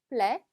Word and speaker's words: plaire: 마음에 들다라는 동사 plaire, plaire. 자, 마지막 때 발음 안 됩니다.